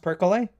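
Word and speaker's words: perkele: one showed up on that list and it's percolate purple that's what I said the first one is pronounced percole which essentially means evil spirit or the devil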